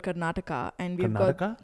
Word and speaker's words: Karnataka: Like where I'm from, I'm from a state called Karnataka, and we've got Karnataka. It's like Canada, but like extended. That's Karnataka.